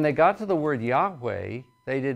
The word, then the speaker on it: Yahweh: word if you put if you try to pronounce Yahweh with the vowel Yahweh with the vowels of Adonai you come up with something close to Jehovah the actual pronunciation is debated most scholars suggest something like Yahweh and as I mentioned